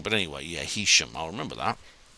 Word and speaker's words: Heysham: Makes no difference, but Heysham is actually pronounced Heysham. Oh, right, Heysham.